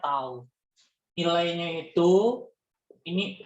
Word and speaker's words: tau: Simbolnya seperti ini, cara bacanya tau.